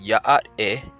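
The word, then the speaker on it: Yá'át'ééh: This word is pronounced Ya'at-e, and it means hello.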